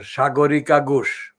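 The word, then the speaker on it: Sagarika Ghose: it his she's called shagorika gush that is my pronunciation it's not a hinduised hindi's pronunciation but it's a bengali pronunciation chagorika gush now sagori kagush has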